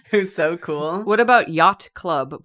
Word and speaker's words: Yot Club: What about Yacht Club? But yacht is spelled Y-O-T. Yacht Club.